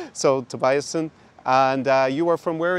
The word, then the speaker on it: Tobiassen: Tobiassen. Tobiassen, okay. Pronouncing a little bit too German-esque. So, Tobiassen.